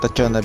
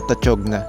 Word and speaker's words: Tachogna: Itong beach na pupuntahan natin ay Tachona Beach. Hindi pala siya Tachogna, katulad nung una kong naibalag dito. Silent G pala siya.